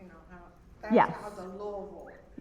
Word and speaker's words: Louisville: And that's kind of, you know, that's kind of the Louisville. Yes. Yes. Notice I say Louisville. Loville. See? Yeah. We're not saying it right.